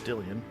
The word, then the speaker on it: Dillian: It's Dillian, but it's all right.